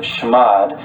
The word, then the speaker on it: chmod: And chmod, or some people pronounce it shmod, basically stands for change mode.